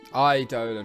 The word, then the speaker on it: Eidolon: Eidolon, right, okay, that's how it's pronounced.